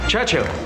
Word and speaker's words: Churchill: Churchill, that's how you say it, altogether like that. I'd heard church and hill, but couldn't find either.